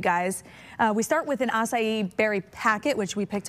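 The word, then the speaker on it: açaí: We are in the kitchen to make an acai berry bowl. Did I say that right? Acai. Acai. I know. It's harder to pronounce than it looks.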